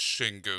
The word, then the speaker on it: Şengün: Like, here we know it's Şengün. Yeah. Well, that's what he said. It was like I think there's an accent on the E. Whereas that's what the sound it makes in Turkish.